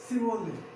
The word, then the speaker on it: Chevrolet: Chevrolet, Chevrolet, Chevrolet, Chevrolet.